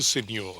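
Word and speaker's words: Seigneur: just an english gentleman he's in fact the senor the senor of sark tell me what is a signore and do i pronounce it properly yes it's a feudal title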